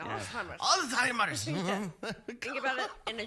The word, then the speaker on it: Alzheimer's: It's Alzheimer's. Yeah. Pronounce the Z. Very German. Yeah. Alzheimer's.